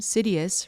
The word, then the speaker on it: Sidious: My own name, Sidious, rhymes with hideous.